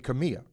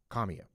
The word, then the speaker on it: Kamiya: Uh Gabby Kamiya at second base even though the announcer yesterday on national television kept calling her Kamia.